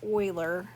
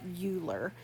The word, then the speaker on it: Euler: It does not end or repeat, and it was discovered by Leonhard Euler. That's pronounced Euler, not Euler. It is called the natural base e, or the Euler number.